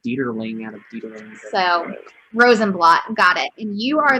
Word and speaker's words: Rosenblatt: Is that the correct pronunciation? Rosenblatt? Yeah, Devon Rosenblatt.